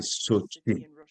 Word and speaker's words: SOCI: Donc, c'est SOCI en anglais, qui me dit est prononcé Sochi. Bon. Comme la ville en Russie où il y a eu les Olympiques d'hiver.